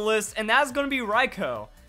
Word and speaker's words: Raikou: and that's gonna be raikou I don't know why that U is there honestly like all it does is cause confusion because since that you exist it's like oh raikou but right who doesn't